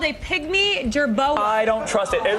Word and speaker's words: jerboa: I'm against the jerboa. Is that how you pronounce it?